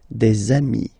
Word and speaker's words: amis: And if you make the liaison, so the link between the two, you will get des amis, okay?